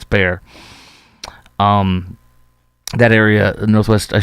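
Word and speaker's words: Bexar: It's not Beexar County. It's spelled Beexar, but it's Bear.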